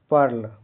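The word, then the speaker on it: pearl: अ हो रहा है पी ई ए आर एल का उच्चारण प्रोनाउंसिएशन पर्ल यहां इ ए आर की ध्वनि अर जैसा होता है। अंत का एल साफ बोला जाता है।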